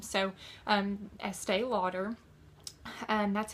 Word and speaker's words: Estée: I thought how did Estee Lauder come about but este is a check pronunciation of st that's how she got the